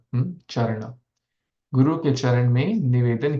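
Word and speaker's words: caraṇa: Charana, the C-A-R, the C is pronounced as Cha, Charana.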